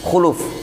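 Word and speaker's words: خلوف: Di sini diharokat dengan khuluf, berarti pengharokatan sudah benar ya.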